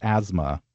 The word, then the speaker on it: asthma: Although I think there's another word that has a silent TH, another common one. Asthma? Yeah. Yes. That turns into sort of a Z sound for us, asthma.